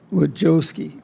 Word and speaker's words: Wojcicki: Wojcicki, did I say it wrong?